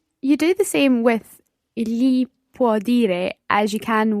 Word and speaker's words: gli: The li sound is pronounced slightly differently in different parts of Italy. Would that be fair? It is, yes. So it's sometimes more li and sometimes more li. Different, Yes. slightly different pronunciations.